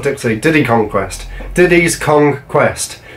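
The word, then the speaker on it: Diddy's Kong Quest: tipsy diddy kong quest Diddy's conquest you have to make sure you say it right because it's a play on words but dunk on country too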